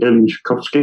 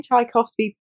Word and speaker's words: Tchaikovsky: I'm going to Tchaikovsky, I think that's how you pronounce it.